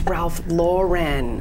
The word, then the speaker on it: Ralph Lauren: the New England area Lauren I'm saying it wrong everyone does oh it's Ralph Lauren it is okay I say Lauren a lot of people I don't know try to make it fancier I don't really know